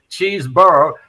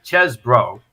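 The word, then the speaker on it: Chesebro: guy's pronunciation again because half the people say cheeseboro and I think the correct pronunciation is chz bro right but he's the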